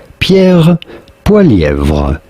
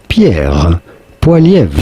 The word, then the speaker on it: Pierre Poilievre: French or in French Canadian, his name would be said as Pierre Poilievre. Pierre Poilievre.